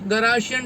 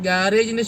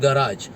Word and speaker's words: garage: പക്ഷേ ഗാരേജിൻ്റെ ശരിയായ ഉച്ചാരണം ഗറാഷ് എന്നാണ്. ഗറാഷ് അല്ലെങ്കിൽ ഗറാജ്. അപ്പോൾ നല്ല രീതിയിലുള്ള ഉച്ചാരണ വാക്കാണ് നമ്മൾ മലയാളത്തിലേക്ക് വന്നു കഴിഞ്ഞപ്പോഴേക്ക് അത് ഗാരേജ് ആക്കി മാറ്റിയത്. അപ്പോൾ ഗറാഷായിട്ട് ബന്ധപ്പെട്ട് നിൽക്കുന്ന എല്ലാവരും,